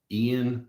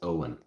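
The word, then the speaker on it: Eoin: I think I wanted to pronounce it Ian, but then somebody said it was actually like Owen or something. Don't lock yourself into a Band-Aid box. Hey, I will go exclusive. I would have an exclusive Band-Aid partnership with Veritas. Yeah, Eowyn. Ewan. Reardon. That's him. A-O-N. Pronounced Owen. Reardon.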